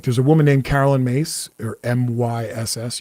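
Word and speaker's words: Myss: a woman named Carolyn mace or my yss you would think it's pronounced Miss and she used to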